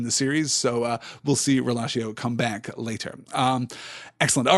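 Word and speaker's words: rilascio: or to set free, or the Italian word relatio, which is pronounced the same way, R-I-L-A-S-C-I-O in the Italian form, meaning I release.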